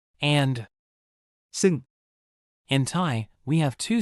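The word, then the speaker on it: ซึ่ง: ท ี ่ ท ี ่ ท ี ่ ซ ึ ่ ง Sounds like psalm with an EU sound, this is the formal, fancy cousin. ซ ึ ่ ง ซ ึ ่ ง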